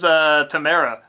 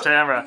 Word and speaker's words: Tamara: Everyone always says Tamara, and it's Tamara.